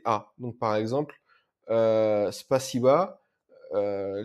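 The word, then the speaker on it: спасибо: donc par exemple euh spaba euh les souvent les débutants le prononcent spaibo parce queà la fin c'est un o mais en fait c'est pas o c'est a c'est pas si vo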